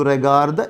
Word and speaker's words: regardes: If it is regarder, je regarde, tu regardes, il regarde. Same pronunciation, though tu regardes is with an S.